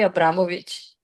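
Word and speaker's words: Abramović: You can just say Abramovich.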